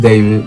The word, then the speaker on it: D4vd: Um, pronounced David, not D4.